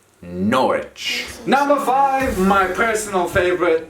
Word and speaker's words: Norwich: town in east anglia norwich not norwich not norwich the r and the w you try to condense letters and sounds into one norwich number five my personal